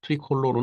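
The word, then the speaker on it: tricolore: 이후에 프랑스의 국기가 된 트리컬러 트리컬러 이건 발음 이겠죠 트리컬러네 그 로 얘기하면 트리칼라 되겠습니다 트리콜로르 1790년대 프랑스제 1 공화정에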